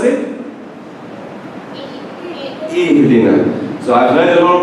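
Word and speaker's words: اهدنا: Ihdina. So I've heard a lot of people say Ehdina. It's not E. No, there's no E.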